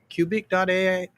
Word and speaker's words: Qubik.ai: it on my website, cubic.ai. It's spelled sort of like Rubik, except with a Q, QUBIK.ai.